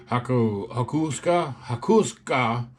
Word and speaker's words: Hakosuka: Hakusoka Works. I saw that's how you're supposed to pronounce it. It's a combination of two different words, Haku and Suka.